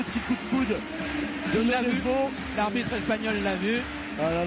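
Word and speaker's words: Nøddesbo: Nous, dans le handball, on a toujours appelé Jesper Nodesbo à la française. Nodesbo, parce que c'est ici qu'on l'appelle comme ça au Danemark. Et donc, il faut respecter aussi, un tant soit peu, tant qu'on peut, leur prononciation.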